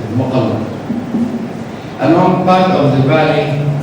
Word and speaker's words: Mukalla: The site itself is located on Jabal al-Mukalla, and they pronounce it Muqalla, along part of the valley called Wadi Rajl.